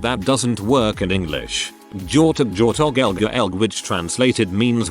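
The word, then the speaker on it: gjort: of do in norwegian george sounds the exact same as deer in norwegian george as the g and h is silent so whenever i say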